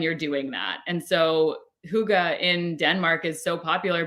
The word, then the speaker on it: hygge: It was HYGGE. Oh, hygge. Hygge. Hygge. Yes. Yeah, it's pronounced.